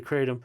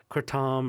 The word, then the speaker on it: kratom: the world you are it's pronounced a couple different ways yeah well in the us it's mostly kratom okay uh in in southeast asia where it originates from it's kurtom or kratom but it's also it's